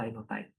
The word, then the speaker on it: linotype: Sesudah itu muncul teknologi berikutnya, linotype, linotype tulisannya, bacanya linotype. Itu kalau kita ketik ya pakai kayak mesin tik itu keluarnya lembaran kolom sudah satu kolom gitu.